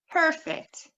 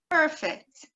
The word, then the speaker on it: perfect: So perfect, perfect has one meaning, and perfect, perfect has another meaning.